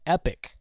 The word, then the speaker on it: Epoch: it was but they they said no it's pronounced epic and I'm like oh